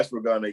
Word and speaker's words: ashwagandha: Is it ashwagandha? Yeah, ashwagandha.